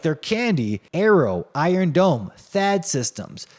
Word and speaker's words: THAAD: THAAD, you know, it rhymes with BAD, and that's exactly what it is for your wallet.